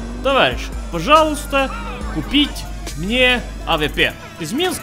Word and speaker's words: пожалуйста: Пожалуйста. It means please. But pay attention, friends. The E is silent. So you say пожалуйста, not пожалуйста.